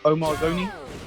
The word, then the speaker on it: Omar Zouni: Is it Omar Zouni? Is that how you pronounce it? Omar Zouni. Yeah, Zouni.